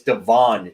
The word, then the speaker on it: Devon: seven right now and it's not Deon it's Devon dude yeah come on anthy's